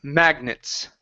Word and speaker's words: magnets: Uh, the word magnets. Okay. So, we're gonna use a schwah for that e. Magnets.